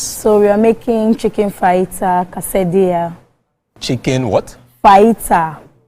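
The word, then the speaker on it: fajita: So we are making chicken fighter casadia. Chicken what? Fighter. F A J I T A. Oh, but the J is silent.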